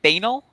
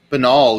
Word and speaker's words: banal: with other people yeah did you say banel yeah banal is the correct pronunciation okay i'm fatal retentive